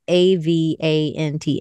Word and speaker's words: Avant: So very Very Avant, A-V-A-N-T. Am I saying that right? Yeah. Very Avant. It's like avant-garde, but I didn't like the guard.